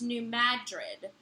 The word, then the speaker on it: Madrid: the New Madrid fault is pronounced New Madrid emphasis on mad not dread like in the city in Spain and that's from Katie